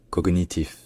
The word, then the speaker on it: cognitif: siècle il se dit voilà le vraiment le G et le N qui sont prononcé vraiment à part cognitus donc si on veut être vraiment fidèle à l'origine latine on devrait dire cognitif mais il y a